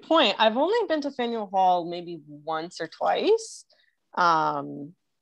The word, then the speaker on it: Faneuil Hall: trying to pronounce it called nathaniel hall you know the fanduel it's that it's i must be pronouncing it wrong it's a place where there's a whole bunch of different foods and oh faneuil hall and you say potato